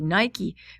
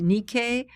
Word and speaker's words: Nike: So this is the Nikkei. I know you are all going to say Nike, but that's not the way it's pronounced. It's pronounced Nikkei of Samothrace.